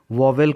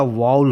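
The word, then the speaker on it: vowel: Guys, वाउल जिसे अपने country में कुछ लोग वोवेल करके प्रोनाउंसिएशन करते हैं, बट IPA international phonetic alphabet के अकॉर्डिंग शुद्ध उच्चारण इसका वाउल होता है.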